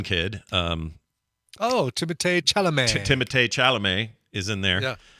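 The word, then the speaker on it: Timothée Chalamet: um oh Tim chalam timate chalam is in there yeah not mispronounced At All by the way that's exactly right timate chelam yeah it's exactly right and uh the daughter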